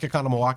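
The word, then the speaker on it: Oconomowoc: Quinnipiac, like Economowoc.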